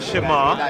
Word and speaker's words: Shema: The Shema.